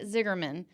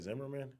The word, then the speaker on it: Zimmerman: And so to meet and get to talk to Stan Ziggerman is Isn't it Zimmerman? Zimmerman. Whatever. Yes, I said it wrong again.